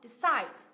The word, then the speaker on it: decide: go to China tomorrow thì cái từ decide decide là động từ có hai âm tiết đúng không decide các bạn có nghe được không decide nhấn âm tiết thứ thứ hai đúng không Ok chúng